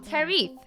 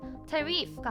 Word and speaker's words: tariff: 인토네이션이 잘못된 것 같습니다. 제 인토네이션이 tariff가 아니라 tariff라고 읽어주면 된다네요. tariff.